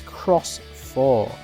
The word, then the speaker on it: Shoutmon X4: all right here we have it it says pronounce as cross for uh in atmology An Origin of the thing